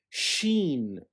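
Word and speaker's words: شين: are seen seen and sheen sheen seen as the equivalent to the letter s sheen is equivalent to the cumber to the combination of s and h as in she she now seen and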